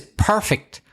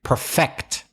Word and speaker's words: perfect: a perfect day but he Josef needed to use the verb but he didn't but he should have used a verb too perfect so stress the second syllable not the nine perfection